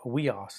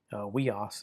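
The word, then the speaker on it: υἱός: Then we have weos. That's the word for son, like son of God, son of David. Weos is the Greek word for the word son. And notice it's a 2-syllable word with the accent on the penult, or the ultima. Sorry, the ultima.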